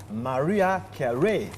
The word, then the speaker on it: Mariah Carey: Oui, l'une des plus belles voix du monde qu'on célèbre aujourd'hui, qui fête 1 an de plus, c'est bien sûr, Mariah Carey, n'est-ce pas? La prononciation est bonne.